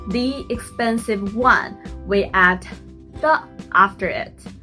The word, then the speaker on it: 的: Remember, 的 is a light sound.